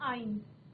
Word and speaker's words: yne: एंड for triple bond, suffix for triple bond is YNE, और pronounce कैसे करते हैं? आइन।